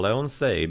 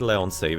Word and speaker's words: Leons: Because I remember last time when I was streaming him, I was pronouncing it Leonsei, which is would be kind of like the accent at the end.